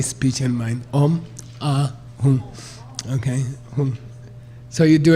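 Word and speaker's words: Hūṃ: Okay, by the way, some people say Hum, it's not Hum. It's not H-U-M, that's a mispronunciation. H-U-N-G, Hum, Hum, like French.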